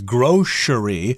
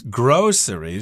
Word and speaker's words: grocery: When I was a kid, I heard my mother often pronounce this word as grocery with a sh sound in there, but the dictionary says it's grocery, so maybe my mother was saying it wrong all along.